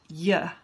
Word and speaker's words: you: Notice that when you is said quickly, it's pronounced ya.